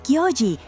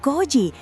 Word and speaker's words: Kyji: Es Kyji, no Koji, no cambies los nombres a tu antojo.